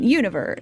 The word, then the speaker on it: Univer: They usually call me Juniver. The second version, Univer, is for those who find it easier to combine two letters into one than pronounce them all. Oh, okay, so it is Univer. Not Juniver, Univer.